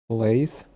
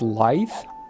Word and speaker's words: Laith: Laith. That's how you pronounce it. Laith. Sure. Not life. I thought it was life.